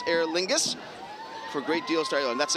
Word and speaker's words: Aer Lingus: we have an adopted dog in my house Air Lingus is coming up next I believe no they're